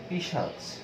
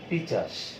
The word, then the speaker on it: পিশাচ: যেমন আরো একটি খুব পরিচিত শব্দ দেখো, একটি শব্দ আছে পিশাচ। এই শব্দটি অনেকেই উচ্চারণ করেন পিচাস, এরকম উচ্চারণ করেন।